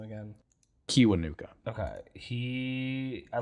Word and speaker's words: Kiwanuka: Kiwanuka.